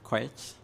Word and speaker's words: Koech: So my name is Koech. That's how you pronounce it.